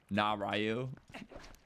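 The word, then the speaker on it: Nayru: Also, for name pronunciations, you pronounce Neu as Narayu.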